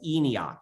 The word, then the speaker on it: ENIAC: It's called ENIAC, just like a Nokian, like John Dee's. Like Enoch? Exactly.